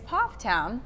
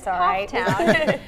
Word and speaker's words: Pfafftown: Two sisters right here in the triad are the first ever Miss Pfafftown. I mispronounced that at the beginning. Oh, Miss Pfafftown.